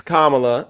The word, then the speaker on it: Kamala: Well, it's Kamala, all right?